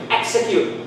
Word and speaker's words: execute: the vowel sound but they they do not they are not pronounced with g z they they're just x see execute we don't say x and q it doesn't sound nice execution exodus exercise we